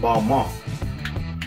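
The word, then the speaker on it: Balmain: next up we have balman um recently i figured out that it's pronounced ball monk so we'll acquiesce right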